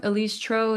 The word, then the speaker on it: Elise Trouw: Like like pronounced like snow because I love the video.